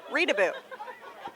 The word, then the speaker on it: Reutebebuch: And when you look at the spelling, I say just pronounce it like peekaboo, Reedaboo.